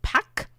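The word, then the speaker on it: PAQ: So is is it PAC? Is it is that how it's pronounced?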